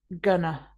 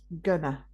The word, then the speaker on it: gonna: So, when speaking naturally, we don't usually say going to. It's often shortened to gonna, gonna.